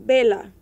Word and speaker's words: vela: exemplo para vela que bela não se para que vocês saibam o v e o b em espanhol tem o mesmo som Bela então você vê o v é o mesmo sonzinho do B bentana que é janela